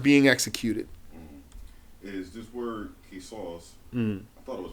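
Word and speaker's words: قصاص: But it's pronounced Qisas. Qisas, yeah, because that's the letter Sod. So the alif is going to be heavy. Sod. Qisas. Had it been a scene, then it would be Qisas.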